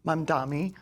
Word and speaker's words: Mamdani: And we were talking about, she was talking about how Mamdani, You said it right. my pronunciation's always off.